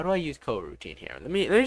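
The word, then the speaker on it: coroutine: trying to find what cortine is uh cor cor oh wait I've been pronouncing it it's C co- routine co- routine I pronounced it wrong co- routine uh co-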